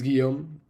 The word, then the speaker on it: Guillaume: app so as i said my name is guillaume which is often hard to pronounce for non-french people so you can call